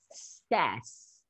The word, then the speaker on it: says: Ó, quando a gente flexiona o verbo dizer, que é o verbo to say, para terceira pessoa, para he, she, it, ele muda a pronúncia. Ele vira says.